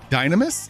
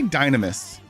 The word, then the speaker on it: Dynamis: Dynamis. They pronounce the nam on Dynamis. Dynamis, not Dynamis. I say the second way, Dynamis.